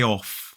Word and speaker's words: of: I'm proud of you for taking the day off I'm proud of you for taking the day off so this word is normally pronounced off and this word is most commonly